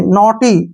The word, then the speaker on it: naughty: जैसे नेक्स्ट है NAUGHTY, यहाँ फिर से AU आ गया तो ए का उच्चारण ओ करेंगे, नोटी। क्या पढ़ेंगे इसको, नोटी।